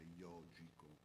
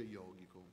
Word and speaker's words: yogico: chi non lo sa, in sanscrito la G è dura, quindi non si legge yogico, si legge yogico, però noi ci fa ricordare l'orso yogi, quindi ci fa un po' ridere.